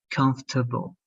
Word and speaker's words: comfortable: like uh all right so that's why it sounds like comfortable comfortable okay so the eye is there but it's not open it's closed okay so let's repeat